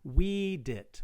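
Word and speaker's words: vīdit: text had long marks, there would be a long mark right here indicating that this is pronounced weedit, whereas this is widet, okay?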